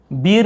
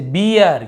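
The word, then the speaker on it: beer: इसे हम पढ़ेंगे, बीर नहीं पढ़ेंगे हम इसे बियर, क्योंकि आर लिखा हुआ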